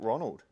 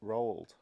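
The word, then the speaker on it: Roald: um the hey Courtney how do we pronounce this rolled no not Ronald oh no no no Road rolled so guys this is why we say Ronald it's just easier to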